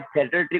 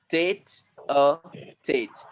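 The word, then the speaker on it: tête-à-tête: Pronunciation क्या होता है, थिएटर ट्रिक होता है क्या, थिएटर ट्रिक? नो, टेट अ टेट, टेट अ टेट।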